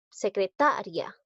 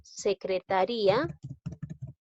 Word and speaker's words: secretaria: Secretaria, pero en este caso no hay tildación disolvente porque la que suena más es la sílaba ta, no es la i. Mira la diferencia que hay. En cambio, si digo secretaría, date cuenta que aquí suena más la i. Entonces, debo tildar esta palabra.